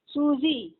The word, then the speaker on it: সুজি: রকম মিষ্ট ভালো ভালো সুজি নয় সুজি দন্তস্য আর জ এর মাঝামাঝি উচ্চারণ সুজি আসলে আমার নাম ছিল